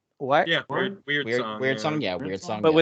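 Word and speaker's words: Wyrdsong: think it's pronounced we weird song right what yeah weird song yeah weird song but it's like w y not the word weird uh weird song fantasy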